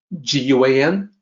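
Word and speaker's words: 觀: In Pinyin, it is spelled G-U-A-N, Guan. That's very close to the Mandarin pronunciation.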